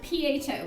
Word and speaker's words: pho: So I love pho or pho or however you say it, which they have.